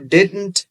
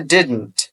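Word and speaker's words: didn't: कहते हैं जी, डिड नॉट को आप डिडंट भी कह सकते हैं, राइट। इसकी प्रोनाउंसिएशन है डिडंट, डिडंट नहीं कहना, जो कि एक अजीब सी प्रोनाउंसिएशन है।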